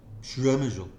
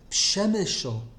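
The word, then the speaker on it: Przemyśl: I have listened to them say, not Shemeshel, bemoaning my Yekishness, pronounce it Pshemeshel, even though you can't speak Yiddish.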